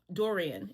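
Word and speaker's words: durian: I could say be saying it wrong. It's spelled D U R I A N.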